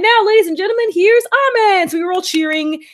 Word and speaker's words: Aimer: was corrected because apparently her name is not Aimer. It's actually pronounced Ame.